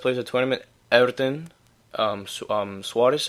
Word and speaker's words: Soares: of tournament Everton um Soares I think his name is not Suarez well you know the Portuguese pronunciation ever since Wallisch or